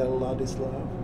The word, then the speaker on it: Ladislav: in, they do take the time and they pronounce it properly, it's interesting. When they say Ladislav, like, even for me it's hard to say it. Really? Yeah. Do you like when people call you Ladislav?